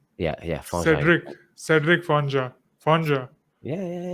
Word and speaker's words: Fangeat: Yeah, I pronounce it Fangeat in French. Fonja. Yeah, Fangeat. Cedric Fonja. Fonja.